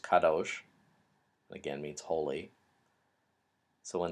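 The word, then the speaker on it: קדוש: holy the adjective holy which meat which is pronounced Kadosh again meets holy so when the sarofim in Isaiah 6 are flying around the temple in Isaiah's call vision they are screaming Kadosh Kadosh Kadosh so holy holy holy is the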